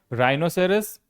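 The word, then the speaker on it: rhinoceros: अगला है राइनोसेरस। देखिए गैंडा आर एच है। एच को क्या करेंगे? नहीं पढ़ेंगे। नहीं बोलेंगे। साइलेंट है।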